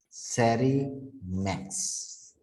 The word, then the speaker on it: SARIMAX: model implementation right the model implementation is called sari max there is an additional letter this x that's